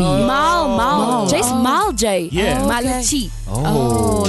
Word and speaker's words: Malachi: And like it's Malaki. Yeah. The correct way to say it is Malaki.